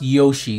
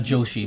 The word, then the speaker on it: Yoshi: It's pronounced Yoshi, not Joshi, but Yoshi.